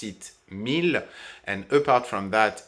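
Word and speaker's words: mille: for one thousand in this case we just pronounced it mil and apart from that it's 100 regular so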